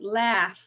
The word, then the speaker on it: laugh: he was amused okay laugh now that's crazy because it's a GH but the last sound is a an F sound none unvoiced laughed laughed